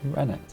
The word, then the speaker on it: rennet: made in a certain place, and it uses Rennie. Okay. Is that how you pronounce it? How do you pronounce it? Rennet.